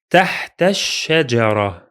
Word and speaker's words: تحت الشجرة: phrase, there will be a connection by jumping directly to the letter sheen in the second word. Both alif and lam are silent for two different reasons. Let me repeat them again. The alif is silent because it's in connected speech, and the lam is silent because it is solar. We can make sure of that from the shadda on the letter sheen. Let's pronounce it. تحت الشجرة. تحت الشجرة.